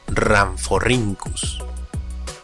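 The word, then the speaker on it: Rhamphorhynchus: Por ejemplo, tenemos a que se lee como Rhynchosaurus, o al complicado, que se pronuncia como Ramphorhynchus.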